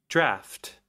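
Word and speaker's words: draught: to call it draft is that know you're pronounced d g HT draft it is it sure is mephitic draft okay discover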